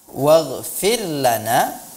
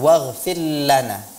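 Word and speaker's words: وَاغْفِرْ لَنَا: Hai Kemudian pada kata waghfirlana waghfir lanaa yang saya perhatikan dan ini ada beberapa peserta juga yang sama kasusnya pada pelafalan huruf ro benar bahwa huruf-huruf di sini pada kalimat ini dilafalkan dengan tarqiq ya muroqoqoh Ra muraqabah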